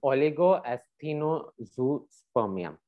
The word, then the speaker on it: oligoasthenozoospermia: We would love to hear you pronounce it, Pearl. Okay. Okay, this is oligoasthenozoospermia.